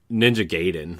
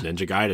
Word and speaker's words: Ninja Gaiden: way, and you're like Ninja Gaiden was how we always said it, right? Until somebody said, no, it's Ninja Gaiden. And I'm like, oh gosh, I've been saying it wrong my whole life.